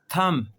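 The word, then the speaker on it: thumb: अगर कभी भी बी से पहले एम आ जाए। बी से पहले एम आ जाए या फिर बी के बाद टी आ जाए तो दोनों सूरतों में बी जो है ना वो साइलेंट हो जाता है। बी खामोश हो जाता है।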